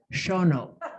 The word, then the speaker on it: Shawano: grew up there and i will correct tim's pronunciation of shawano is shono that's right so